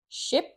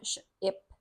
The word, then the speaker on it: ship: So here we have a short I sound, ship, ship, and here we have a long E sound, sheep, sheep.